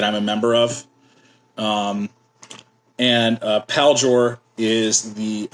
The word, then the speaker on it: Paljor: So the proper pronunciation is Paljor. It's just quick. Paljor. Yeah, it's not French.